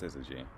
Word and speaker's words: syzygy: word all right time's up the word is pronounced syzygy syzygy is also known more commonly as a conjunction